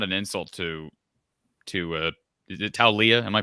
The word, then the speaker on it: Taulia: And I do think, and this is not an insult to is it Taulia? Am I pronouncing that correctly? Talia.